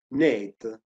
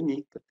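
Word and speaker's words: NEET: balzo questo acronimo dei Net lo dico in diciamo con la pronuncia italiana però ci dovrebbe dire nick perché un acronimo inglese l'equivalente italiano giovani che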